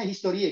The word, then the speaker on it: Historie: betul-betul memang ya teman-teman Yang bisa itu historie bacanya historie gitu ya Kemudian yang kedua